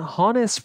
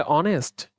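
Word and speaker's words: honest: হনেস্ট এর H consonant হওয়া সত্ত্বেও কেন আমরা হনেস্ট বলি? হনেস্ট। আমরা একে বলে অনেস্ট।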